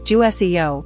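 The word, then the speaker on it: 주세요: The Jew in Ju Se Yo is a soft J sound like J in jam. The Se is a soft S sound, not a Sh.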